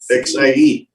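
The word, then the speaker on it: 蟹: word for crab and the chinese word for harmony are both pronounced as c xie which are used to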